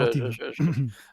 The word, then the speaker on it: Antibes: Antibes, oui, c'est bien, c'est Antibes. Je prononce mal.